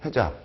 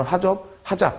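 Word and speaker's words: HAZOP: ETA, FTA, 해잡 또는 하잡 그렇게도 많이 발음을 합니다.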